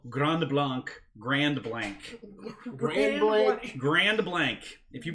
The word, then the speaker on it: Grand Blanc: michigan where we call grand blanc grand blanc grand blank if you pronounce it grand block they know you're from out of town even